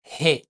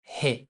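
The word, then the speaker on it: ه: La lettre suivante, he, encore he, comme si vous respirez.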